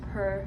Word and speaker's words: Pür: I believe it's pronounced Per Festival.